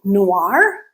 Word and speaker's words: noir: And in French, O-I-R make the OR sound.